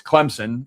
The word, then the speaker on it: Clemson: You pronounced Clemson correctly. There is either a silent P or no Z.